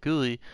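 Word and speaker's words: Guili: it seems to be saying the name gully as in ghoulie assembly came about by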